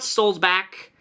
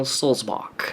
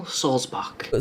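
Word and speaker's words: Sulzbach: It's Daniel Solzbach, as in like John Sebastian Bach, like the composer, the musician, Bach. Not Bach, not Buck, not Burger, Daniel Solzbach.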